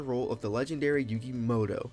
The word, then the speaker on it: Muto: In this scenario, you will be taking on the role of the legendary Yugi Moto. It's Moto, not Muto. It's a U, but they pronounce it Moto.